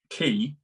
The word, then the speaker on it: quay: But the film key is spelled Quay, like a boat, like when you dock a boat. Yeah. But I looked at that, I was like, that's a key. You say it key, but it starts with a Q.